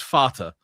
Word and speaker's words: Vater: Well, yeah, like in German it's Vater. Yeah, which is spelt with a V and a T, so there's no D in it.